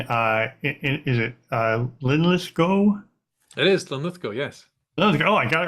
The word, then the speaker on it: Linlithgow: It is Linlithgow, yes. Linlithgow. Oh, I got it right. Okay, I'm terrible with pronunciations, but I managed that.